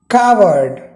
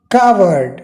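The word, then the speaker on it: coward: जी हाँ, this is the right pronunciation. बहुत सारे लोग इसको बोलने में गलती कर देते हैं, कोवर्ड कह देते हैं। So that is not correct pronunciation, right? What is correct? कावर्ड।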